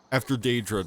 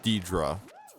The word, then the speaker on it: Deidre: You know, after Daedra dies. Oopso. I think I learned that name is actually pronounced Deidre.